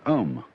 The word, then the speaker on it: Om: That sound is used because if you spell it out, A-U-M, it runs from the back of your throat to your lips, and therefore it contains the whole range of the voice.